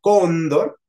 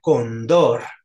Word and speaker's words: Cóndor: de niño por ejemplo la palabra Cóndor que lleva acento en la o Yo la quería leer como si fuera una palabra aguda Yo decía Condor Condor y mi mamá me